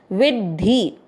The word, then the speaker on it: विद्धि: वी मात्रा के अंदर जो आधा द है उसको वी के साथ पढ़ेंगे विद और ध से धनुष पूरा है उस पर ई की मात्रा धी, विद्धि।